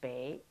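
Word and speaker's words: 北: how so type VI bei bei bei bei bei 20 times or more by the time you finish you know that the symbol bei is pronounced Bay and means North so now we begin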